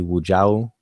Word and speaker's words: Wujau: And by the way, my name, or Wujau, and everyone can call me Wujau, and it's pronounced Wujau.